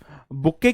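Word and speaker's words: bouquet: हो है ना जी बुके क्या हो जाता है मेरे भाई बी ओ यू क्य यू ई टी इसमें जो टी होता है वह साइलेंट होता है बुके तो आपको पता है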